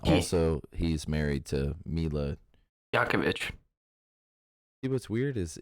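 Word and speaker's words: Jovovich: he's married to mila yakovich see what's weird is isn't it j-o-v-o okay yokovich it's a yo jay is always a yeah no that's not french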